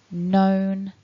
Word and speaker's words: known: from today is to remember that in this collection of words, you don't want to be pronouncing that letter K that looks as if it's there, but actually it's silent. So feel free to click